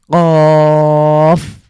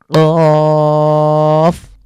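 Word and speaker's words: قاف: তো এটা ক একটু ধাক্কা দিয়ে আমাদেরকে উচ্চারণ করতে হবে।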